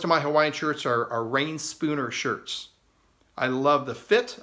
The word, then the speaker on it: Reyn Spooner: Yeah, I said, yeah, it's a Ren Spooner. And the gentleman said, oh, you mean Rain Spooner?